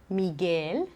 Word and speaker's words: Miguel: guisado Miguel Miguel Pégase donc à chaque fois qu'on a le G suivi d'un U et que la voyelle suivante est un I ou un et on prononce pas le U comme dans le mot Guy sado Miguel mais si la voyelle qui